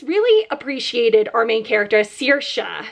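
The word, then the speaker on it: Saoirse: appreciated our main character searsha she pronounces it not sorsha like the actress i think she pronounced as sirsha um she went on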